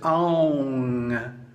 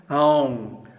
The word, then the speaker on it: Aum: Now the proper pronunciation is Aum. Aum.